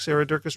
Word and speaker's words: Durkis: Julianne Rowland, Stu Dolnick, Sarah Durkis, Rhymes with Circus, Kelly Cameron, Wayne Patterson, Leanne Peterson, Janet Selby, Claire Adams, Tom Franzak, Jeanette Bedham, Gila Lacerte, David Donahue.